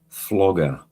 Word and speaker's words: Flogger: Um Flogger, not Frogger. Sorry, I keep getting his name wrong.